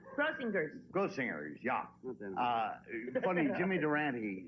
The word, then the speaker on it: Grossinger's: grossingers yeah isn't it it's gross singers with a hard G crossingers grossingers yeah uh funny Jimmy